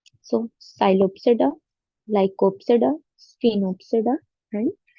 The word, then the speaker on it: Psilopsida: So there are divided into four classes: Psilopsida, Lycopsida, Sphenopsida, and Pteropsida. P is silent. So Psilopsida, Lycopsida, Sphenopsida, and Pteropsida.